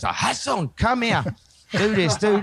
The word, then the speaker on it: Jason: used to call me hassan you know because i in spain they pronounced the jays like a her says hassan come here do this